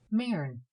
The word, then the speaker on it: Maren: She used the Elizabethan vowel, as one should pronounce bird, with no sound of u. Maren.